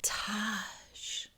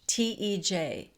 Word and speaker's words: Tage: And she's like, Taj. And he goes, it's Tage. Tej.